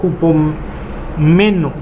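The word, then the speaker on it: ὑπομένω: Que viene del griego hupomeno. ¿Así se escribe? Sí, así como se oye. Hupomeno. Meno. Como jugo, pero en lugar de la G es la P.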